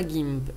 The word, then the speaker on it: GIMP: Dans la partie graphisme, on a GIMP et on a le visionneur d'image GThumb, on prononce à l'anglaise. Donc GIMP ici est une version